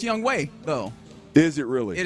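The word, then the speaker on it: Younghoe: um boy and re you you threw it's young ho is the kicker by the way for Atlanta it is pronounced young way though is it really it is spelled young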